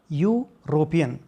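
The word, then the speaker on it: European: इसका प्रोनाउंसिएशन लेते हैं तो इसकी साउंड निकलती है यू और यूरोपियन।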